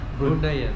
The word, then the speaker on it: Bruneian: Bruneian.